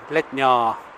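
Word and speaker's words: Letná: So I'm around on the other side, and it's Stadion Letnia. It's a long A at the end, that little hook above the A.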